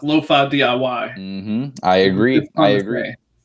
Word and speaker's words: DIY: You don't say, you don't spell out do it yourself. You say DIY.